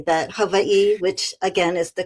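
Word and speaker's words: Hawaiʻi: Don't ask me why I've spent almost 40 years here, but I often say that Hawaii, which again is the correct pronunciation, you pronounce every single letter.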